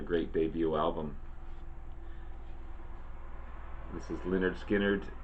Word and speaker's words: Lynyrd Skynyrd: This is Lynyrd Skynyrd, pronounced Lynyrd Skynyrd.